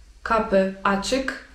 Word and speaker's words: kapı açık: udać, to powinniśmy na tablicy informacyjnej szukać informacji kapı açık albo kapıya gidiniz. Kapı açık to dosłownie oznacza, że gate już jest otwarty, kapı açık, a kapıya gidiniz to znaczy proszę udać się do odpowiedniego gate'u.